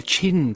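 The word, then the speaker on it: Qin: the ruler of the chin Kingdom now that's spelled q-i-n not like the chin at the bottom of your face chin was one of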